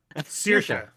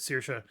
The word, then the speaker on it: Saoirse: I can't pronounce that name. Saoirse.